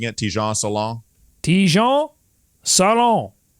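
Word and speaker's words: Tidjane Salaün: How are you pronouncing it? Tijan Salon? Tijan Salon.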